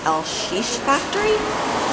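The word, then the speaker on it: LX Factory: spelled o ex-factory but it's pronounced el shish factory the Portuguese way and it's kind of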